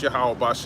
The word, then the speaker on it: Yahweh: Yeah, that's Yahweh, Yahweh, how you say it in the Paleo Hebrew.